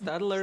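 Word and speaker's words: Staedtler: it's Stadler. Stadler, Yeah. whatever. It's spelled really weird too.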